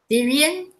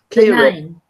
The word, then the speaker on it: Kieran: Oh, is that Syrian? How are you pronouncing that? What? Syrian? Kieran. Kieran. Kieran.